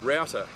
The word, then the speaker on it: router: from your modem router we pronounce it router here in australia as the british way of saying it means something else entirely but we won't go